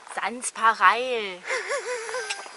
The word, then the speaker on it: Sanspareil: Jetzt hier in einem Ortsteil von Wonsees, der heißt Saint-Pareil, aber er wird von den Einheimischen hier wie ausgesprochen? Saint-Pareil. Saint-Pareil.